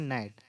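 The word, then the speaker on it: gnat: हैं ये आपका है ये गट नहीं है इसको हम बोलते हैं नेट इसमें आपका जी जो है वो आपका साइलेंट होता है इसमें जी आपका साइलेंट इसको हम लोग पढ़ेंगे एन एटी को नेट बोला जाता है नेक्स्ट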